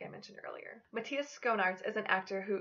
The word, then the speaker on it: Matthias: Some people will try to pronounce this name as Mateus. This name is not pronounced that way, but if you